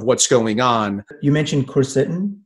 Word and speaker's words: quercetin: you know vitamin d possibly vitamin c uh quartin i believe is another one that we're hearing